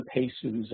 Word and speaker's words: PEHSU: environmental health specialty is anybody can access the pesus as the abbreviation is pronounced pediatricians Public Health officials School Personnel parents